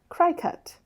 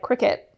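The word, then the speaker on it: Cricut: a lot of years I pronounced that cry cut that right nope it's not I'm willing to be embarrassed for this podcast I will admit that it is not spelled like Cricket no and I thought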